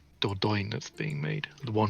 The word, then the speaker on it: Dordogne: It's It's not, actually it is actually like Dordogne if you said it like purely. Oh, because it's French.